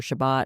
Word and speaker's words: Shabbat: And there are so many people in that space whose only exposure to Shabbos or Shabbat, however you want to pronounce it, or the secret third and fourth ways people are inventing in camp, which is lovely.